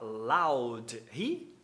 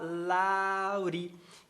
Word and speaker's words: loud: Pois é, aqui ele poderia falar loud, lou, justamente porque ele faz dropping no ri, só que ele fala laurri.